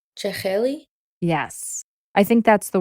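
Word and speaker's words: jakheli: How that word is pronounced? Cheli.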